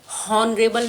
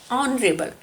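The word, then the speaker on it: honourable: है हमारा first letter, but हमने हॉनरेबल नहीं बोला है, हमने बोला है ऑनरेबल। सो द साउंड है, यहाँ पर आप ऐसे समझ सकते हैं कि एच की साउंड साइलेंट है और हमने पढ़ा है ओ से, ऑनरेबल, ठीक है।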